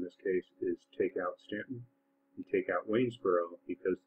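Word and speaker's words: Staunton: going to add the city of Stanton which is if you're not from Virginia believe it or not the way that Stanton is pronounced and then finally wesboro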